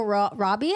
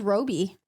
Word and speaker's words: Robbie: It's pronounced Margot Robbie. I thought it was Roby. I could have sworn someone said Roby.